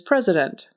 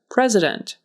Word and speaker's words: president: first word today is president president and there is an s in the middle that sounds like a z president developed developed so that